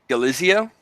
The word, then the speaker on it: Galizio: the mad monarch today on I have James galizia you pronounce it as that is right as most